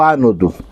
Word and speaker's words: ânodo: Mas são palavras proparoxítonas, então todas elas são acentuadas e tem a sílaba tônica na primeira sílaba e o ânnodo, que é o positivo.